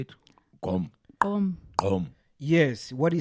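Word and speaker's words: Gqom: Gom.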